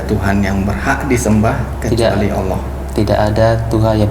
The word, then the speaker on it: Allah: baik ee apa ee dalam pengucapan Allah diucapkan lafaznya diucapkan Allah bukan Allah Oh iya siap Allah